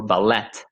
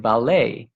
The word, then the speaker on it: ballet: french and so therefore the ending of the word is not pronounced so i tell them this like a a bad french pronunciation like it's not buffet or ballet it's buffet and ballet um wow so that's